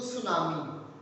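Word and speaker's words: tsunami: Don't pronounce it टू सुनामी, नॉट, इट इज सुनामी. whenever s comes after t it becomes silent for good.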